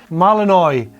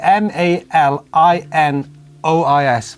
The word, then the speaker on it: malinois: is actually a three mia a three-year-old gsd malinois cross how did you pronounce that no idea i think i was a good joey how did you pronounce i sorry m a l i n o i s malinois malinois a malinois cross bit confused about